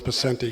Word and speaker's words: Picente: So it's Picente. You know how to say it. No, you say it Picente. Okay. No, my father said it that way, and I would appreciate if you did the same.